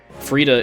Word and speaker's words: Frida: to pronounce the name frida is apparently supposed to rhyme with fajita so there you go